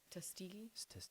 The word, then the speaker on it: Tuskegee: Like with the Tuskegee experiment, I can't pronounce it. Yes. What was I that? think you said it right. Tuskegee Tuskegee.